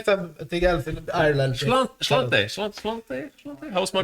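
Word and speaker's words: Sláinte: Slante. How's my pronunciation, Irish person? Yeah, Slante for Ireland, he said.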